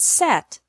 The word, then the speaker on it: set: seat sit and set the secret to making the difference between these three sounds is how much you open your mouth for the e sound in seat your mouth is almost closed for the e sound in sit your mouth is a little more open and for the earth sound in set your mouth is even more open watch me listen and